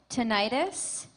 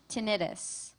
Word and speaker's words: tinnitus: Your word has two pronunciations, tinnitus, tinnitus.